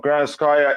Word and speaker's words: Granovskaia: marina grand square here your pronunciation of grand sky is spot on kachin finally something good